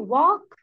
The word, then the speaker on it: walk: Do you want to صح do you walk to To school؟ school? شطورة يا مريم. لا it's walk not walk. No the L here is silent.